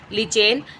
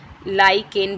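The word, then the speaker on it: lichen: प्राप्त होता है आंसर लिचेन कहीं-कहीं पर इसको लाइक इन भी लिखा होता है मैं इंग्लिश में इसकी स्पेलिंग होती है एलआईसी के चाहिए तो इसका उच्चारण दोनों तरीके से हम कर सकते हैं मैं नेट लिटमस का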